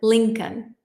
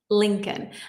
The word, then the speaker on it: Lincoln: The L in Lincoln, the second L, is silent. Lincoln, Lincoln.